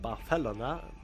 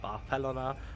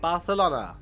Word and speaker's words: Barcelona: that after visiting Barcelona which by the way is pronounced Barcelona by its denizens Barcelona not Barcelona as you might think